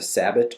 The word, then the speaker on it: sabot: different kinds of slugs there's the sabot or Sabo round just two different pronunciations or a rifled round